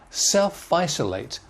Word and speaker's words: self-isolate: social distance contact tracing where is the stress on these words look at the first one self isolate self isolate self the main stress there and isolate self isolate there are four syllables self isolate four syllables so these two are main self i so late not so strong self isolate similarly self